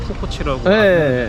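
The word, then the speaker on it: Kukoč: 근데 이제 그걸 모르니까 NBA 농구에서도 혹시 토니 쿠코치라고 그 선수도 사람들이 발음을 이제 치라고 해야 되는데 아니 이걸 이렇게까지 박사님을 모셔가지고 우리가 이런 뭐 국어연구원에 뭐 NBA에 이렇게 논의해야 될 주제예요 이게?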